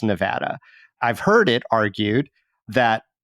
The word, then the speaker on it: Nevada: as wrong okay okay are there preferences by different speaker groups yes and so uh sort of Anglo nevadans might be more um destined to say Nevada than someone who has a Spanish background who would say it more with the Spanish vowel system but when you think